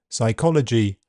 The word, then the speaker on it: psychology: The letter P is silent in several common words. Cupboard, receipt, raspberry, psychiatric, psychology, coup, pneumonia to name a few.